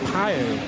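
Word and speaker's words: Pijl: Yeah, his surname is spelled P-I-J-L. So it's pronounced, I think, something like Pio.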